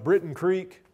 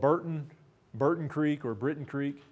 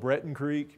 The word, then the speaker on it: Breton Creek: the Spanish government on Britain Creek, or sometimes called Burton Creek, usually not called Breton Creek. You know, we just don't pronounce anything the way it's spelled in the Ozarks.